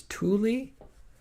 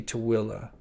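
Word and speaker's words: Tooele: heard um everything usually the biggest one is Thule um that's that's probably the most popular way it's pronounced by people that don't know it's actual pronunciation uh is Thule but it's actually too Willa but um the guys from Ghost Adventures uh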